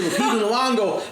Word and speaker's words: Lupita Nyong'o: Because I haven't really seen sorry, how do you pronounce her name? Lupita Nyong'o.